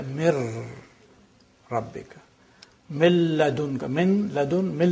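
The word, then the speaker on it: مِن رَبِّكَ: So you don't pronounce min rabbika, you say mir rabbika.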